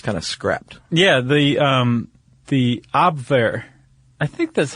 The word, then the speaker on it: Abwehr: Yeah, the Abwehr. I think that's how you pronounce it. You're the one who knows German. Abwehr.